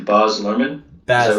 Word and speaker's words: Baz Luhrmann: I hope I'm pronouncing this correctly. Baz Luhrmann. Is that Baz right? Luhrmann. Baz Luhrmann.